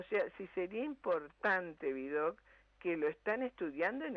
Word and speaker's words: Vidocq: Pero los demás hasta el nombre, pues el nombre, ese nombre que termina en una sílaba aguda, es como que golpea, ¿no? Vidocq.